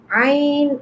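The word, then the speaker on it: ع: Okay, Ain, Ain pronounced from the middle part of the throat, like Ain, middle part of the throat.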